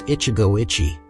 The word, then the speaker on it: Ichigo Ichie: inscription we set about deciphering those characters pronounced Ichigo Ichi while The Damp winds